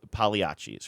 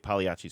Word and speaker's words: Pagliacci: time to time, called Pagliacci's, right? Pagliacci's Pizza. I'm saying that right? They don't pronounce the G here.